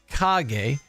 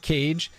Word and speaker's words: Kage: pop outer zone fairy tale story Legend of kage it's pronounced kage not cage um Haley's comment at Bubble Bobble and we're